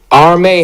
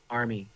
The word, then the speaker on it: Armie: Armie Hammer is and it's Armie, not Armin Hammer. He's Army.